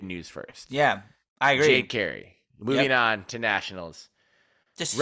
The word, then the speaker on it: Jade Carey: it's pronounced Jade Carey. We have confirmed now. Someone got a pronunciation guy, Jade, didn't you? Jade like shade and Carey like Terry.